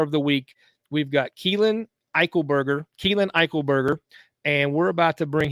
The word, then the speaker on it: Eichelberger: So in our Sunstar Rising Star of the Week, we've got Keelan Eichelberger, and we're about to bring him on here.